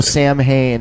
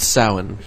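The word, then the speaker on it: Samhain: Sam Hain in the chat room says that he misses Keith. It's pronounced Sowen, bro.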